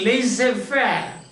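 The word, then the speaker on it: laissez-faire: commerce industry etc and it is spelling is l a i double dash e is a hyphen f by i r e this pronounced laser fair they say means giving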